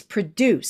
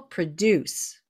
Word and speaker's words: produce: rule the rule is if it's a verb it's produce so the emphasis on the second syllable produce but when it's a noun it's produce no korean will know